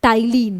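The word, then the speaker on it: ptyalin: किसकी मदद से, सैलिवरी अमाइलेज की मदद से, जिसको हम लोग टाइलिन, यानी कि पी यहाँ पे साइलेंट होता है, टाइलिन भी बोलते हैं।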